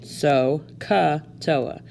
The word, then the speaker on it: SOHCAHTOA: And that's how you say it, SOHCAHTOA.